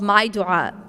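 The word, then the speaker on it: MyDuaa: to download an app onto their phone called maidua it's spelled m-y-d-u-a-a and what it is is it's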